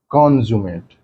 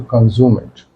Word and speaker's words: consummate: the pronunciation goes like consummate. So the stress will be on first part, con. When it is used as an adjective, while pronunciation, sorry, the stress will be on sum part. So consummate.